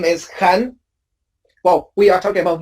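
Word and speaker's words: Khanh: So if you write it down, you're going to write 5 letters, K-H-A-N-H. And also a tone for my name is Han, not Han. Now, if you pronounce my name in Vietnamese, how many sounds are there? 3. You have h, a, n, right?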